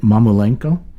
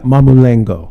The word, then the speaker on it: Mamulengo: This is called, if I'm saying it right, Mamulenko. Yeah, Mamulengo.